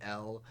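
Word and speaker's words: Elle: It'll be L, but like you know, E L L E, but pronounced like L.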